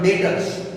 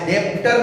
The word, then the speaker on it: debtors: और last one जो डेटर्स, word याद रखना फ्रेंड्स, यहाँ पर डी वर्ड साइलेंट है, स्पेलिंग है DEBTORS, डेप्टर नहीं है, डेटर्स।